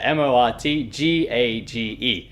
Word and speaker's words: mortgage: the type uh yeah m-o-r-t-g-a-g-e so that's the type of word that uh english speakers would spell wrong because the pronunciation is mortgage which is very different so it's very easy